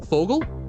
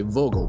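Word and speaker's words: Vogel: German was that like V's are an F sound so like birds are fogal but it's v o g e l i want to say Vogal but no it's fogal def defog singing ging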